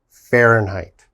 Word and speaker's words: Fahrenheit: We pronounce that Fahrenheit.